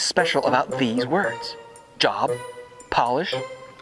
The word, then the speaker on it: Polish: When you capitalize each word, they are pronounced differently. Instead of job, it's Job. Instead of polish, it's Polish. And instead of herb, it's Herb, the name.